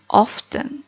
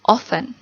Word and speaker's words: often: jadi tidak perlu diterjemahkan oven atau kalian juga bisa bilangnya often tapi oleh nitip speaker biasanya sering disebut dibacanya oven oke artinya sering bingung